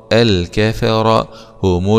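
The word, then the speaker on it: الكفرة: را مع التفخيم الكفر الكفر هم الكفر هم الكفر تاء ضمه هم الكفره هم الكفره هم هم هم الكفاره همزه وصل وسط الكلام لا تنطق و يبدا باب الفتح لام سكون قمريه مظهره هم الكفره هم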